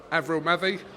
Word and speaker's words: Avril Mathie: I'm delighted to be joined by Avril Mathie. Have I pronounced that right?